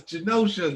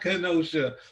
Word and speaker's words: Genosha: I think on our show, me and Mars was talking about Genosha, and he said Kenosha. I'm like, no, it's Genosha, not Kenosha. It's spelled the same, but yeah, you could do that, which is not necessarily my favorite thing.